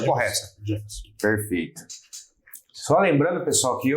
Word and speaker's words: Jameson: A pronúncia correta. Jameson.